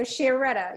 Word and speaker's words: Chiaretta: Okay, so Chiaretta. Yeah, he's Yeah, our that's how it's new- pronounced.